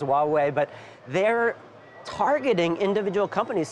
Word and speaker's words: Huawei: I guess it's pronounced Huawei, but they're targeting individual companies, saying you can't sell components to American consumers, American corporations, and now arresting people.